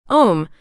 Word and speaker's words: Om: pranadana Devotion to God om the sacred symbol and sound of the absolute the source of all creation om is also spelled AUM and consists of three syllables a u and M representing the three aspects